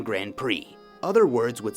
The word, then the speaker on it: Grand Prix: For example, the silent D and silent X in Grand Prix.